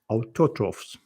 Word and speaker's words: autotrophs: Where is the stress in this word? What changed? Because normally it's not so difficult to pronounce, but the autotrophs. Autotrophs. Autotrophs. Autotrophs. Autotrophs. Autotrophs. It's like auto, automobile. Autotrophs.